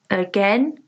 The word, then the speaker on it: again: Apple, again, artist, answer. Here the different stress pattern is again. Here the stress is on the second syllable, again. English, equal, even, enjoy.